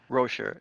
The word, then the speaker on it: Roscher: Is that how you pronounce that? Oh, sure. Rocher, yeah.